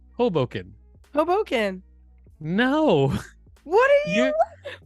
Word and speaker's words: Hoboken: Hoboken yeah you said Hoboken oh Hoboken but other people say Hoboken Hoboken no what are you you're saying I'm saying Hoboken like I'm putting the emphasis on the first syllable and you're going Hoboken